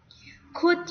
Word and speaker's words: could: Could you pay attention to me? Untuk L-nya tuh tidak dibaca, jadi langsung could.